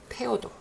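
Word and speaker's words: Theodor: 영어의 그 발음은 너무 어려운 발음이에요. 독일어는 그냥 깔끔하게 테오도.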